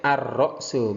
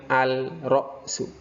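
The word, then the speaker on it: الرأس: Ar-ra'su, ar-ra'su kepala, alif lam syamsiyah, ar-ra'su bukan al-ra'su.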